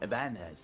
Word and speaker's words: Ibanez: Ibanez. That's how you say it. Wasn't there a tilde on top of the end? Wouldn't it make it Ibanez?